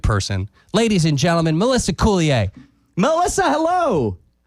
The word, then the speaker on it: Coulier: The L is not silent. That's the big one, right? It's not kuay.